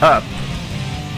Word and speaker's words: up: letra o es o el sonido corto de la letra u es un sonido muy parecido a la letra a en español y se dice a a como en la palabra up up que significa arriba up